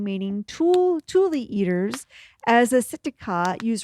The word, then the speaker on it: tule: I thought it was just tool, but they pronounce it tule.